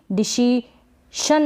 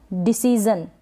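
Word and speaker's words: decision: और फिर ये है डिसीजन, क्या है डिसीजन, इसको भी डिसीशन ना पढ़े, डिसीशन नहीं डिसीजन।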